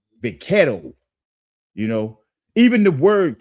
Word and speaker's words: vaquero: The Mexicans, they have a Spanish term for it, is vaquero. That's how they say it, vaquero.